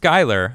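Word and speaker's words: Schuyler: shuler again says lastly my name is pronounced skylar oh okay well excuse me skyler thank you very much uh trump2020.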